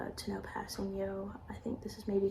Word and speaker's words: Kpassagnon: I remember he went up for the blitz, and then I just remembered how to pronounce his name. Tanoh Kpassagnon. I know how to say his last name, Kpassagnon.